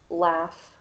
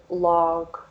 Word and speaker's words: laugh: in the word and the second word laugh we put the f sound on the end of the word laugh um but my students in particular never know how to pronounce this word and they'll often say log or lag which is completely understandable there's no f there but these can make